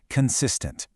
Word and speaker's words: consistent: Next, we have the adjective consistent. The stress is on the middle syllable, consistent.